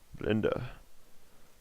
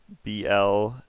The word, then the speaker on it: Blender: Blenda. Blenda. You're saying it wrong. You gotta say it's BLENDAH.